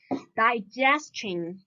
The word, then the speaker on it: digestion: Digestion. 消化，对吧？ Digestion. So similar as shin, like the syllable before tion should be stressed. So here we should put the stress on the syllable ge.